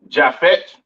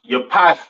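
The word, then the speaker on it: יפת: Next we have Jafet. All right. Or Javit some people like to call it. Right. um pronounced yapath in Hebrew.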